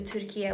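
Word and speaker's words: Türkiye: Fun fact, actually, Turkey's going to, well, is wanting to change its name to Turkiye, which is how you say it in Turkish.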